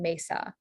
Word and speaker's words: mesa: Yeah, so for Spanish, we have the A sound in Spanish, which is usually spelled with the E. So examples of this are padre and then mesa.